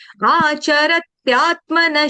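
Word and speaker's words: आचरत्यात्मनः: और आचरत त्यात नहीं बढ़ना है, आधा त है, आचरत त्यात, जैसे आधा द था ना, ऐसे ही आधा त है तरबूज का।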